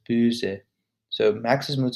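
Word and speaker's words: böse: to pronounce differently so if it was b-o-s-e without the two dots in the o it would be pronounced bosa but the two dots make it uh so it's booze so max's move says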